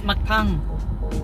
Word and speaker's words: mukbang: Am I pronouncing that right? No. Okay. It's mukbang.